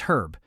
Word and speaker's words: herb: Because pointing out that Americans are the ones who drop the H somehow feels rude, even though it's true.